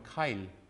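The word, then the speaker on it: Keil: Kyle is spelled like, yeah.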